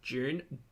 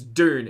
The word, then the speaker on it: Dune: my my June readers June Dune Dune it's not it's Dune it's not June but it is kind